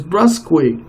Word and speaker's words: brusque: The word of the day is brusque. It's spelled B-R-U-S-Q-E.